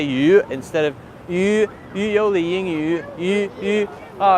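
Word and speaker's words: Yoli Yingyu: company, which is pronounced, it's Y-O-L-I and then Y-I-N-G, Y-U. That's our Gongzhonghao, our account. But it's hard for me to say the yu sound correctly. So it's yoliyingyu, but I often say yu instead of yoliyingyu, yu.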